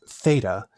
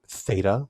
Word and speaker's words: Theta: nowadays like for instance Theta is pronounced a single sound but classically it was literally a t and an h a t a breathy T sound so it's something bear